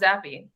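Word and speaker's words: Zappe: what do you think it's actually pronounced zappy which i was pronouncing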